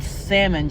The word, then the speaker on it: salmon: know it's fish but salmon just sounds too fishy to me so I pronounced the L in it and I pronounce the